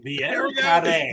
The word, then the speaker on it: Vieux carré: Vieux carré.